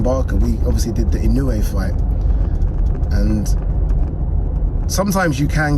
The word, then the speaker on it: Inoue: looked up and obviously I saw Inoue, or Inoue, as I've been told to pronounce it correctly, and Nakatani's photos, and